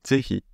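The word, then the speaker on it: ぜひ: C'est-à-dire qu'en début de mot, ça va se prononcer Z. Zehi. Vous voyez, c'est zehi, zehi.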